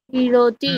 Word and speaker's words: ক্রীডতি: কন্দুকং ক্রীড়তি। হুম, ঠিক। এখানে আমরা সংস্কৃতে যখন বলবো তখন হচ্ছে এখানে ড আছে, ঠিক আছে। টয়সন্ড র যেটা বলি আমরা, সেটা কিন্তু সংস্কৃতে নেই, সেই জন্য আমরা ড উচ্চারণ করবো।